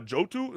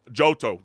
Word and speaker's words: Johto: Pokemon Silver and Gold after finishing uh Johotu. Is that how you say it again? Uh, thinking I Johto.